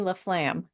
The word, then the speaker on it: Laflamme: to listen to my amazing guest, Miss Laflam. Hello, lovely listeners. Thank you so much for tuning in again this week. I am so excited to introduce to you my new friend Laflam.